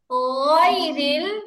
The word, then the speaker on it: غير: গয়রিল মাগদুবি, আপনারা পড়তেছেন গয়রিল মাগদুবি, এখন এখানে বাংলা ক এর গ আসবে না, গয়রি হবে, সফট করে উচ্চারণ হবে।